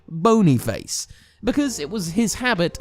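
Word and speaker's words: Boniface: looked it up and it literally is pronounced like bony face because it was his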